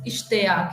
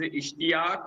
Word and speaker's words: Ishtiak: Arabic like yeah actually my name is Ishtiak it's also Arabic name it means desire that's why maybe a lot of people are making mistake while pronouncing it Yes.